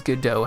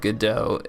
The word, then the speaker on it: Godot: I was watching a video about how to pronounce Godot properly, and the video starts with the founder of Godot in an interview saying he doesn't have any idea how you're supposed to pronounce Godot, and then concludes that the most common accepted pronunciation of like the name of the original play that the name came from is Godot.